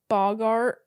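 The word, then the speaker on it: boggart: My only other note on this chapter was that that Lupin found the Bogart.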